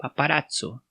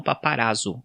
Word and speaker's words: paparazzo: nesses dois meses aí a gente também usa paparazzo com tse né o paparazzo e não paparazzo como alguns erroneamente pronunciam ao pé da letra conta a escritora e